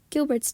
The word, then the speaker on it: Gilbert's: of many who has Gilbert's Disease pronounced like a French word this too can be